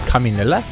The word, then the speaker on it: Caminilla: In that last Caminilla fight, and yes, his name is Caminilla. I finally pronounced it correctly.